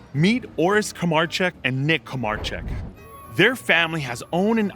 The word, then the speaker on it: Kramarczuk: How many times do people mispronounce Kramarczuk? The worst one I've ever heard was.